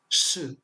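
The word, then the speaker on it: 是: Donc par exemple, là, le pinyin, ça se prononce sh. Donc ce qui permet de savoir que ce caractère se prononce sh, ce qui signifie le verbe être.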